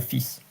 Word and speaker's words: fils: Je vous présente ma fille, mon fils. So, as you notice, there are some words that are pronounced at the end with silence. But here, fils is an exception.